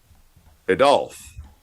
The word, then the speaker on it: Adolf: You're putting the wrong enunciation on the wrong syllable. Adolf.